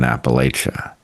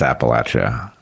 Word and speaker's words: Appalachia: I've just watched what happened in Appalachia. Excuse me, I'm mispronouncing it. It's Appalachia.